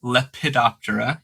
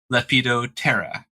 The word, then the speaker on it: Lepidoptera: should not call it Lepidoptera. You can call it Lepidoptera. Don't call it Hymenoptera. It's call it Hymenoptera. So you don't pronounce or very slightly, very mildly pronounce the P, and it totally changes the flow of the words.